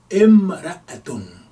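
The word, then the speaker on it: امرأة: Now if we don't have if it's not defined, meaning if we don't have alif wa lam, it's actually written and pronounced imra'atu. Imra'atun. Alif, kasra, mim, sukun, and then ra, fatha, and then alif, hamza, fatha, and then ta marbuta. Imra'atun, that means a woman.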